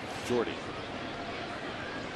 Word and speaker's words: Jordy: is from it's not short for Jordan it's Jordy it's spelled like that s huh like Rod ceiling